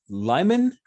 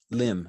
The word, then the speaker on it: Lim: Lyman, or that, are we saying Lim? Lim. I like Lim Lim better.